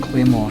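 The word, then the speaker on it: Claymore: what's a clean clean it's spelt like clay them or but as I said clay more yeah just big soft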